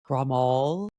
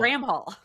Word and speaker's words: Bramhall: and actually, it's an English name, and so I think you're Irish, right? I'm Irish. Yeah. So you're like primed. You're like close. Like you're primed to pronounce that right. Absolutely. Everybody else makes it more complicated or more fancy. They're like Bramhall. Yeah. No, Bramhall. It's just Bramhall.